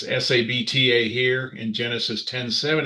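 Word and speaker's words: Sabtah: it right it really because it's a short vowel to really stress it you add the h sound.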